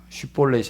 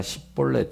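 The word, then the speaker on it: שִׁבֹּלֶת: 말을 에브라임 사람들은 제대로 하지 못하고 10볼넷이라고 이렇게 쉬폴렛이 아니라 10볼넷 이렇게밖에 발음을 못했다고 합니다 그래서 이것으로 인해서 에브라임 사람인지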